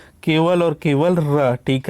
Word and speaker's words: र: और ये एक ही है, केवल और केवल र। ठीक है, र देखिएगा, इस पर टच डायरेक्ट नहीं होता, जब र का उच्चारण करेंगे तो जीभ जो है प्रकंपित होती है।